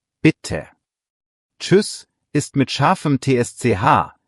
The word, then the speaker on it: bitte: Bitte hat 2 T, also kurz und knackig, bitte.